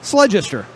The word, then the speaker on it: Sledgester: it's real easy say your last name sledgester rhymes with register you know what i'm